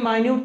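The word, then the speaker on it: minute: 60 second जानते ही होगे और ये इसका उच्चारण हम क्या करेंगे माइन्यूट तो बारीक होता है सूक्ष्म होता है इसका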